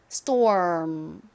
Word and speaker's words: storm: 소리로 쓰였어요 자 그런데 끝에 M이 왔습니다 이렇게 rm 단 가 끝나는 경우 어이라고 발음을 하면서 입은음 모양으로 만들어 주시면 됩니다 한번 천천히 발음 연습해 볼게요 자스 이렇게 발음 하다가 입을음 렇게 다물어 주시는 겁니다 storm 한 번 더